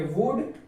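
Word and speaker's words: would: क्योंकि डी से पहले एल आ रहा है, इसीलिए एल यहाँ पर साइलेंट। तो इसको क्या पढ़ेंगे? कुड, इसको पढ़ेंगे वुड और इसको पढ़ेंगे सूड।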